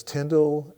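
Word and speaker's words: Tyndale: yeah and I'm impressed you said Tyndall correctly was a tenday oh yeah rhymes with spindle so you are a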